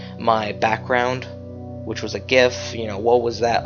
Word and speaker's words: GIF: I call it a GIF, G-I-F, because it looks like it would be pronounced GIF, not GIF. All right, it'd be with a J.